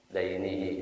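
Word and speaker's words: دينه: Dainihi, ya bacanya daini, hutang kalau din agama.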